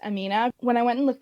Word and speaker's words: AMNH: um this amnh and i think that's supposed to be pronounced amina when i went and